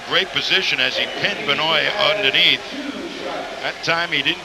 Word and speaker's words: Benoit: Benoit. That's the way David wants it, so that's the way we'll pronounce it. Benoit.